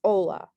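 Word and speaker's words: hola: see with the word ola that was one of our vocabulary words it's spelled h-o-l-a you just say ola o-l-a so the age is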